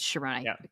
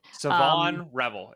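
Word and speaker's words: Shavon Revel: I was, by the way, Siobhan Revel. I said Sharon. I got his name wrong every single time I've said it. Siobhan Revel.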